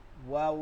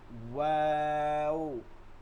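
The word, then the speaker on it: واو: ওয়াও ওয়াও উচ্চারণটা দেখব ভালো করে ঠোঁট এই দুই ঠোঁট গোল হয়ে যাবে এবং মাঝখানটা এই আঙ্গুল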